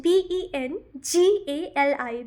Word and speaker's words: Bengali: अगर इफ़ यू are pronouncing बंगाली, इट्स बंगाली इन इंग्लिश language, right? BENGALI, Bengali, correct?